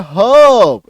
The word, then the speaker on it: herb: तो हर्ब में आपको नहीं करना है, क्यों, क्योंकि आर के बाद एक कॉन्सोनेंट साउंड है, तो रॉ का साइलेंट हो गया, हर्ब, इसका उच्चारण क्या हो जाएगा, हर्ब, ये देखो, हर्ब, हर्ब, आपको हर्ब नहीं बोलना है, हर्ब, आ रही बात समझ में।